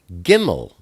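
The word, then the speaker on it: גִּימֶל: So now we turn to Gimel. Gimel is the number 3, and it's pronounced like a G, like get.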